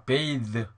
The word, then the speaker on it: bathe: 자 오른쪽에는 e를 내가 한번 붙여봅니다. 이렇게 e. 그러니까 이건 길게 나요. 묵음이 있으니까 또 th가 가운데 들어가니까 th 그래야 됩니다. 자 bathe, bathe. 자 이렇게 됩니다.